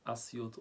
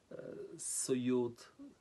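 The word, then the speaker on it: أسيوط: And it has several ways of pronunciation. خمسة لغات أسيوت أسيوت الأسيوت الأسيوت سيوت سيوت.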